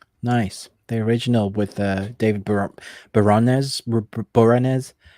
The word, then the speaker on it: Boreanaz: The original with David Boreanaz.